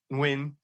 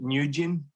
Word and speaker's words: Nguyen: which and his last name was of course win and so in the UK he would pronounce it nin up until then eventually he was 26 and